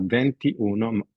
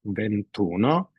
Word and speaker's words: ventuno: so we have Uno it's not venti Uno just ventuno and also with Oto